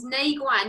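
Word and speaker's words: Neiguan: So Shen Men and Nei Guan. Did I say those right? I said that earlier, and I didn't know if it was actually the right pronunciation. Yeah, you did say them right.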